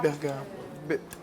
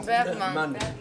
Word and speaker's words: Bergman: Bergman. Comme Becker. Comment je prononce? Ingrid Bergman. Ingrid Bergam. Ah, putain, j'arrive pas. Ingrid Bergam. Non. Bergman. Bergman.